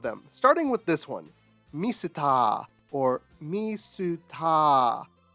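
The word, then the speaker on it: ミスター: starting with this one, misuta, or misuta. This is the katakana pronunciation of the word Mr.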